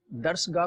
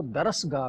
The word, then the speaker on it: درسگاہ: اوندھے کو اوندھے کہا, درسگاہ کو درسگاہ کا, رے جو ہے متحرک نہیں ہے, ساکن ہے. درسگاہ اس طرح شعور کو شور کہا, شور, اور شہپارہ کہہ دیا.